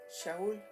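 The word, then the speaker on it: שאול: En hebreo se pronuncia Shaul, que significa aquel que ha sido llamado por Dios.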